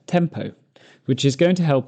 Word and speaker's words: TMPO: During this lesson, we'll be looking at a rule I refer to as TMPO, pronounced tempo, which is going to help us organise the extra information in a sentence.